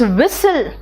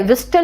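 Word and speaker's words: whistle: देते हो जरा देखो टी साइलेंट है कहां-कहां इट्स विसल विसल है विस्टल नहीं है बेटा देखो विसल है नेक्स्ट देखो तो फैसन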